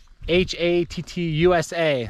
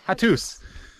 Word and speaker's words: Hattusa: So it was how do you pronounce it? Hattusa. So the USA, Hattusa.